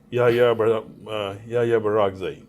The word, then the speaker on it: Yahya Barak Zai: So without any further delay, let's meet with Yahya Barak Zai. Yeah, hope I pronounced your name correctly.